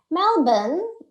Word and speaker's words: Melbourne: All right, so Melbourne is pronounced as Melbourne locally, is the capital of the state of Victoria.